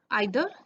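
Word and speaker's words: either: सो in English we have 3 distributive pronounce: each, आइदर एंड नाइदर. आइदर एंड नाइदर को हम ईदर एंड नीदर भी कई बार सुनते हैं. That pronunciation is also correct.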